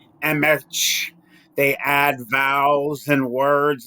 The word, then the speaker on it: Emch: Emch. They add vowels and words like they think they're going to correct how it's said. So it's just pronounced Emch, E-M-C-H.